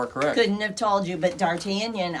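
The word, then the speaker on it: D'Artagnan: Couldn't have told you, but Dartanion I I knew. And she doesn't spell it like they do. No, she doesn't use the thing. It looks like Dartagen. There's a G in there and that's what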